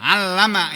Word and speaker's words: allama: Saya ulangi, yang pertama adalah tadi man, kalau ini bacanya allama ilman.